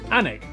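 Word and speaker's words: Alnwick: in quernmore quma before finishing up in alwick anik which is near Newcastle or as the people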